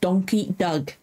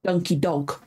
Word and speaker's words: Donkey Doug: entitled The Ballad of donkey Doug I've been saying that over and over again to make sure I say it right cuz I kept wanted to say donkey Doug or donkey dog I don't know why